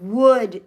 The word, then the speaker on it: would: Would. The L is silent.